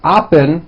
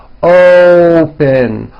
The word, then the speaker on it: open: to say this word you're not saying upen with an a you're using using that hidden W you're bringing your lips forward and you're saying open open like that so let's practice some